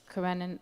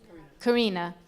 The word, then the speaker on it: Karina: it paralleled his relationship with Anna Karenina. How do you pronounce her name? Karina.